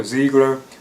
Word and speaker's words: Zegler: grows into like the adult, played by Rachel Zegler. Or Zegler, I think that's how you pronounce her name.